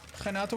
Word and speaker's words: Renato: Renato with a J? Don't make fun of me, chat. That's how you pronounce R's in Portuguese.